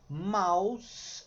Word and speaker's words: mouse: Mouse, mouse, não pronuncia o E no final nunca em palavra nenhuma.